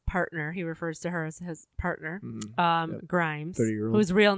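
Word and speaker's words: Æ: like a symbol like it's like a nanny together which I guess is pronounced ash and then a -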